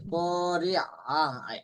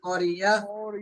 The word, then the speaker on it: القارعة: এখানে মনে হয় ইয়া এরকম শোনা যাচ্ছে, কারিয়া, আইন উচ্চারণ করতে হবে। যদি বলি কারিয়া তাহলে ইয়া উচ্চারণ হয়ে গেল, কিন্তু ইয়া হবে না, এখানে হবে আইন, কারিয়া।